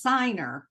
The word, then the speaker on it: Ciner: So you say it's I say it's Signer, but Diner.